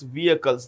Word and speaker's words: vehicle: Vehicles. The H in vehicle is silent.